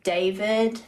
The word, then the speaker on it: D4VD: I have David, but it's like spelled like D4VD.